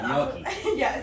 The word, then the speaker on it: gnocchi: And I started adding vegetables to that pre-mixture, so I'll throw in Gnocchi. No, is that how you say it? Yeah, it's the Italian pronunciation. Yes. G-N-N-O-C-H. Yes. Something like that. Yeah, Gnocchi.